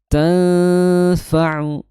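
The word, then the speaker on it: تنفع: Di sana dihukumi sebagai ikhfa ya. sebagai ikhfa yaitu ikhfa ausad ya. Dibacanya dengan ditahan selama dua harakat disertai dengung ya. Ditertai dengung. Tanfa'u tan ya tanfau.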